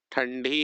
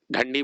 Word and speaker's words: ठंडी: क्या कहा जाता है ठंडी ही पड़ी इसको क्या पढ़िए जो भी पढ़ेगा देख लीजिए ठंडी ढंडी बोल देंगे तब ठंडी नहीं बोलेंगे ढंडी हो जाएगा देख लीजिएगा जो भी